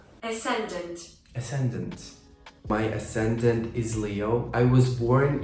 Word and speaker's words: ascendant: I'm a Virgo my accident is is it asant ascendant ascendant ascendant my ascendant is Leo I was born in Ukraine in